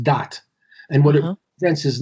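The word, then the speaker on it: Da'at: called dot d-a-a-t in in hebrew it's it's pronounced dot and what it prevents is knowledge but it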